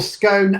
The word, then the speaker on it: scone: get a row myself or scone as in bone that is this week's poll I'll be honest with you I use scone and stomp which is